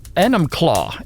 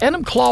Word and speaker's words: Enumclaw: and let me see if I can pronounce this city right Enumclaw yes enim Claw Washington they all added us to